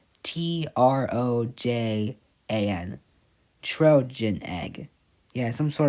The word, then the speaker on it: Trojan: Now, Trogan egg. So, Trogan egg is Yeah, it's some What does Oh, wait. Am I pronouncing it wrong? It's Trojan. T R O J A N.